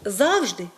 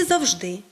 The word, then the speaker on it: завжди: які мають подвійні наголоси тому правильно казати завжди і завжди апостроф і апостроф хоча Ніхто з нас